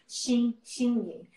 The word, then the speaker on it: Xin Ying: It's really hard to pronounce, but I try really hard to teach people, Xin Ying. Even it's spelled Xin, but actually pronounced Xin Ying.